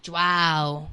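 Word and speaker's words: João: It's like wow with a J in front, like Joao.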